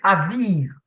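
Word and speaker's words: אביב: Le mot qui est utilisé, en fait, c'est pas habile, mais c'est aviv. Et ça s'écrit comment alors?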